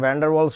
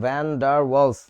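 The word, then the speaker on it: van der Waals: ভ্যান্ডার ওয়ালস শব্দটা এরকম, ভ্যান ডার ওয়ালস আলাদা শব্দ, ইংরেজিতে বানানটা হচ্ছে ভ্যান ডার ওয়ালস, WAALS। এটাকে আমাদের বইতে লেখে ভ্যান্ডার ভ্যান্ডার ওয়ালস। এটা ঠিক না, একজন বিজ্ঞানীর নাম, যথেষ্ট সম্মান করে বলা উচিত।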